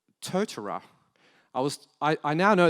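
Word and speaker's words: Totara: or there is a version of Moodle called tortora I was I now know this is the correct pronunciation because I was with the total folks two days ago Toth tortora but I normally say Tatara or a Totoro so that's a Moodle plus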